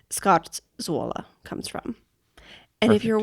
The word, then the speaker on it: Scarzuola: have used to build this hut were called Scottza. Oh, okay. And that is where the name Scott Zoa comes from.